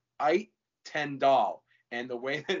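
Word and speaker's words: Uijtendaal: His first name is Seem, and the last name is Ait Tendal.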